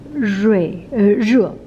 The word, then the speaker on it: 热: Okay, this is not a, not r, this is pronounced in Chinese re. In English it's more like re.